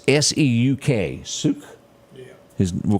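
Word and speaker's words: Seuk: That's just, he was 49 years old, and I'm going to do my best to pronounce his name. It's S-E-U-K, Suk. Yeah. We'll call him Suk.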